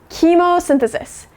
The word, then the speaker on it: chemosynthesis: fear, we are going to learn how to pronounce it together. So all together, this word is chemosynthesis.